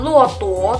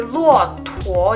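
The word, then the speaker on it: 骆驼: luwot world world world bukan lu waktu tapi lu on two jerite huo kita tekan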